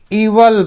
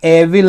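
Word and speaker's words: evil: दोपहर को एक इवल इसको इवल प्रोनाउंस करेंगे ना एविल नहीं इवल एलिफेंट एलिफेंट मतलब हाथी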